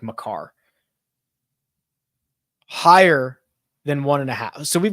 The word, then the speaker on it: Makar: I think it's not pronounced Maker. I don't think it's like Makar.